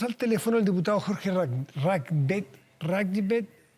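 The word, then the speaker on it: Rathgeb: Está con nosotros al teléfono el diputado Jorge Ragbet. ¿Cómo se pronuncia? Ragbet. Sí. Es de RN, estuvo en la reunión, está en línea, le agradecemos que nos responda el teléfono a esta hora.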